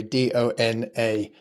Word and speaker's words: Dona: N, by the way, Dona. Correct. Yeah. And So then Yeah, Yes. so we pronounce it Donna, but actually it's sort of a donor, I suppose.